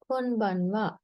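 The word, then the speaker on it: こんばんは: එතකොට මෙතනත් ආ letter එක ලියන්නේ pronounce කරන්නේ වා. නම් good evening කොන්බන්වා.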